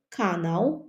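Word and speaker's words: kanał: навіт акцент такий сам канал натомість канал канау наголос інший і в кінці у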